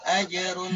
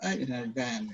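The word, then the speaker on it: أجر: Falahum ajrun ghairu mamnun. Bukan falahum ajran, ya.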